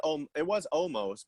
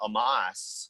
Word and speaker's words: Omos: the wrestling match, they're changing the way they pronounce Omos's name. Yep. Yeah, it was Omos, but now the announcers were calling him Amos.